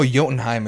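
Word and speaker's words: Jotunheim: that so I know yenim is like you pronounce the J like a y so they're called yens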